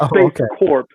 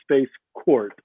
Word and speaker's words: Space Corp: That's Space Corp, but they call it Space Court as a mispronunciation.